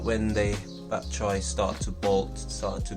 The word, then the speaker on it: bok choy: How do you pronounce it? Bok Choy. Bok Choy.